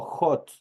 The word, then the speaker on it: hot: aquí yo tengo hot, esta es una h espirada y obviamente esta h el momento de pronunciar es como que ahí estuviera una J. Por eso yo le digo hot.